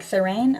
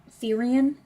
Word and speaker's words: Therian: Yeah, like Therain. Oh, Therian. I never say it right, because I always feel like it's Therain, but I've been told it's Therian.